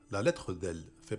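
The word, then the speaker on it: ف: La lettre Fa se prononce comme le F.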